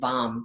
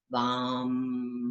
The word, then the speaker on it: Vam: It's enunciating every one of those 3 letters and syllables. So it's Vam. Vam. Making sure your V and your A and your M.